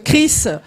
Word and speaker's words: Kriss: Bonsoir tout le monde, je suis Chris, donc mon Chris s'écrit K-R-I-2-S et.